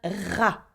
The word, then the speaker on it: rat: Now the ra. Okay, we do not pronounce the t at the end. It's a rat, obviously, where we don't pronounce the t.